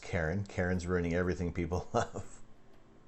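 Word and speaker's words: Charon: dwarf planet its largest moon sharon pronounced karen karen's ruining everything people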